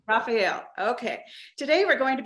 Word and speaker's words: Raphael: say your last name is it Rafael Raphael yes ma'am Raphael okay today we're going